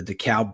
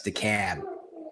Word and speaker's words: DeKalb: I do want to give a shout out to my guys at the DeKalb Police Department. Those are my boys. They like me. Mm-hmm. DeKalb. I said it wrong. I forgot it's DeKalb.